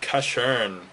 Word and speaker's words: Casshern: Alright, next movie is called Casshern. It's spelled C-A-S-S-H-E-R-N.